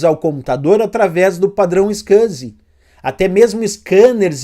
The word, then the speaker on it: SCSI: B botou scaz pessoal scsi é a sigla a gente costuma pronunciar scaz e o que que